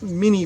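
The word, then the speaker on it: Minié: But when we looked at the French name Minet and switched it over to an American pronunciation, it looked like Minie.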